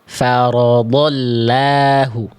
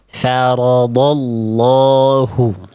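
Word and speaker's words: فَرَضَ اللَّهُ: Nah, jadi di sini dibacanya bukan farodahu bukan begitu bukan farodahu tapi sama kayak huruf d tebal lamnya diangkat pangkal lidahnya. Faradallahu. Faradallahu gitu ya.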